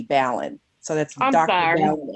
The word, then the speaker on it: Balin: I'm a lady person over here, and it's pronounced like Allen with a B, Ballin.